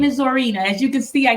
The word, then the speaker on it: Zorina: Z my name is zorina as you can see I got The Zo Part of it right um I always used to struggle with people mispronouncing zorina Sabrina oh God zorina so